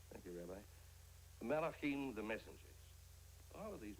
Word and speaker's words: Malachim: Kadoshim, the holy ones, and How do you pronounce that? Malachim. Thank you, Rabbi. Malachim, the messengers.